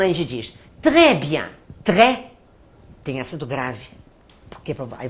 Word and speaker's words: très: O acento grave abre o som. Por exemplo, quando a gente diz très bien, très, tem acento grave.